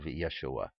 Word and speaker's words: Yeshua: used to that but I also understand the importance of Yeshua as being proper pronunciation all right now I'm